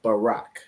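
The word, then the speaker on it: ברך: letters b r and but that's not how you pronounce this word so if you remember from the Paleo this word is Barack so in the Paleo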